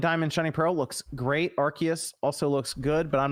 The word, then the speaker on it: Arceus: accidental knockouts mimi says in english they say arceus officially in japanese they spell it and say it as rcs very confusing wish